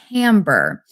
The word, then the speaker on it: timbre: And one more term for you, timbre. It's spelled Timbre, if you wanted to look that up.